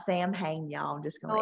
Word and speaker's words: Samhain: It's wonderful when we talk about, how Halloween or Samhain, which is Samhain, is yeah, Samhain. the Irish proper one. pronunciation of it. It's not Sam Hain, y'all.